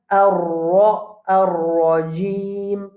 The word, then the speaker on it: الرجيم: Ça, ra là, ra quand il y a fatha l'oli ou bien il y a dhamma, nous pouvons prononcer la bouche pleine, la bouche bien ronde. Alors, nous pouvons dire ar-rajim, ar-rajim.